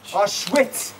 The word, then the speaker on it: Auschwitz: Because your W makes a V sound in that language. Auschwitz.